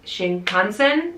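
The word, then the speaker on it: 新幹線: those highspeed trains like sh Shin Consin is how you say it I think um literally any day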